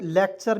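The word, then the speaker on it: lecture: सी टी यू आरई लेक्चर मीस होता है भाषण अंतिम में यू आर आता है तो इसका उच्चारण हो जाएगा च के रूप में लेक्चर ले ले आधा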